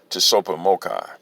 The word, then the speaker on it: Tsopahmocci: resources brought forward via t-s-o-p-a-h-m-o-c-c-i pronounced to super mocha uh i'm going to